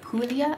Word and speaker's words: Puglia: brush alberobello is in the italian region of puglia i believe it's pronounced and they are famous for a specific